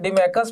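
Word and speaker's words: Deimachus: We pronounce it Dimachus, but write it Dimachus.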